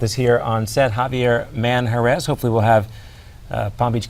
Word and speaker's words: Manjarres: It's Manjarres, right? Manjarres, come on, please. You told me not to pronounce it. You told me to use my Anglo accent. You lived in Spain, call me though. whatever You can roll R's better.